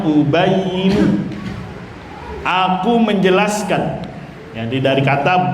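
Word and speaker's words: أُبَيِّنُ: Nah, itu bacanya ubayinu.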